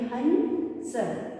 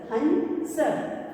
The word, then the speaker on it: हंस: और जब भी हम अंग की मात्रा का उच्चारण करते हैं तो जिस मात्रा पर मात्रा होती है उसको हम अलग से पढ़ते हैं। जैसे कि हमने ह पर बिंदी लगाई है, इसे हम पढ़ेंगे हंस, हंस, हंस।